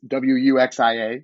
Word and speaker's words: wuxia: It is, I believe wuxia is the way that it's pronounced in Chinese, and that's the term in Chinese for sort of like heroic tales, I guess, is the literal translation.